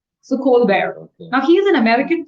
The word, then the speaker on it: Colbert: It's not Colbert it's cold bear. See B E R is pronounced as B E A R bear. So Colbear now he is an American talk show host.